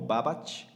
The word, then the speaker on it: Babbage: Se escribe Babbage, es como Babbage, ¿sí?